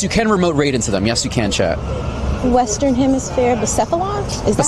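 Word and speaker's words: Blacephalon: Western Hemisphere, Bucephalon? Is that how you pronounce that? Bucephalon, perfect.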